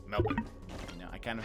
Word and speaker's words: Melbourne: Like, it's really hard for me, because, again, it's very common for Americans to say Melbourne, for example, and that's not right.